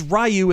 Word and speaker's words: Ryu: off rayu or Ryu or however you pronounce it it's it's rayu in Street Fighter the movie the game but